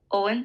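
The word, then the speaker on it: Eoin: and Casey next one e-o-i-n-e-one it's not too bad Owen Owen Owen okay next e-o-g-h-a-n this is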